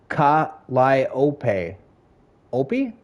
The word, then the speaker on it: Calliope: It is pronounced ka liop opi. Kaopi.